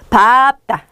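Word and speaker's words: 밟다: 발음법 중에 하나입니다 얘는요 원래 리 비이는 널다 럼 릴로 발따라 읽고 싶으시겠지만 얘는 표준 발음이 보세요 바다입니다 게다가 얘는 장단음 아지 물어보는 문제도 꽤 많이 나왔 썼기 때문에 꼭 기억하셔야 돼요 밥다 밥다 밥다 바고 하면서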